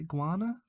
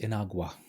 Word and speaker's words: Inagua: Even the Great I always pronounce the name wrong. Great Iguana? Or Great Iguana? Oh, Great Inagua.